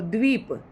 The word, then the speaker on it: द्वीप: Next है दीप और द्वीप दोनों में अंतर है। दोनों का उच्चारण आपको अच्छे से करना है। दीप और द्वीप। तो इसके द के नीचे व लगा हुआ है।